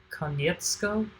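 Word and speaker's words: Konietzko: your name horribly but it's a it's a con yetsko I think I think that's how you pronounce it but anyway Michael and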